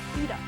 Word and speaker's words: PlayStation Vita: No, genius, it's pronounced Vita.